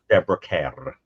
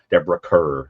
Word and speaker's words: Deborah Kerr: Another great haunting movie, The Innocence with Deborah K, as you would correctly pronounce it. Deborah Kerr, as we say here.